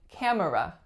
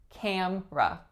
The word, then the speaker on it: camera: of my clients saying camera camera but we delete that middle syllable to get camera camera what kind of